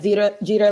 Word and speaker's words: Jeter: Is it Jeter? Is that the correct way to say it? Yes, Jeter like Derek.